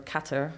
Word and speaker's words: Qatar: I actually didn't go to Qatar, or Qatar, as it's pronounced.